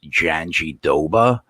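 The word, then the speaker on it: Jandiroba: think i think that the way that they say her name is janji doba even though that's not how it's spelled at all but but i think that's how they pronounce your name listen it's a tough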